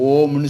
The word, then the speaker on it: ஓம்: சேர்த்து சொல்லி என்ன சொன்னாங்க ஓம்னு சொல்றாங்க ஓம் என்கிறதுக்கான சரியான உச்சரிப்பு ஆ உம்ம ரெண்டும் சேர்த்து ம்ல நல்ல அழுத்தமா சொல்லணும் ம் தான் பிரபஞ்ச சக்தியினுடைய